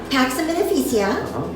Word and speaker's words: Pax and Beneficia: Pax and Beneficia.